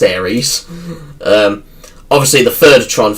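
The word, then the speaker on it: Ares: Why is why as I first pronounced it Tron Ars, but that's not how it's pronounced. It's pronounced Aries.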